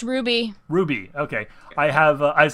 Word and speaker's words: RWBY: rooster teeth web series show uh RWBY it's pronounced Ruby Ruby okay I have I've seen bits of